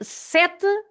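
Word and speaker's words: sete: So s then set and about set uh sometimes people think that the last e is not pronounced. It is pronounced but our uh last e is h the sound is just h.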